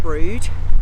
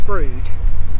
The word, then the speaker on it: Brewood: But it's spelled Brewood, but pronounced Brood.